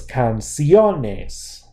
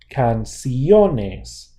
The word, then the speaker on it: canciones: right listen to this canciones canciones the stress does fall there so we get to